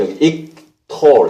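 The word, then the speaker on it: yiqtol: ictal 이렇게 발음이 되거든요.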